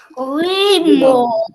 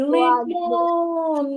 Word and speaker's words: лимон: слово погукай слово лимон лимон ди падає більша сила голосу на який складжимо правильно на другий лимон на другий склад і я поставлю наголос